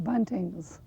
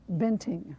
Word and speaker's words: Buenting: had the spelling changed adding the e so that would be pronounced banting rather than bunting throughout the Midwest immigrants